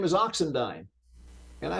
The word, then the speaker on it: Oxendine: says excuse me says your last name is oxendine and I said yes it's funny you pronounced it correctly because most people it's usually